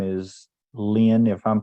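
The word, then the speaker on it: Lyne: hand raised and uh their first name is Lynn if I'm pronouncing that right probably not l-y-n-e go ahead please l-y-n-e hello my name is Lynn I'm from Quebec and I work for a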